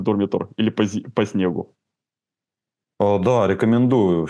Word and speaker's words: Дурмитор: раз национальный парк дурмитор я специально проверил как на какой слог правильно ставить ударение оказывается дурмитор а горы прекрасные Я посмотрел